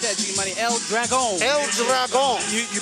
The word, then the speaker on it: El Dragon: El Dragon. You pronounced it absolutely correctly.